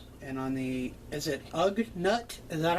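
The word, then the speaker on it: Ugnaught: silver metallic variant and on the is it ug nut is that how you pronounce it that is correct that's going to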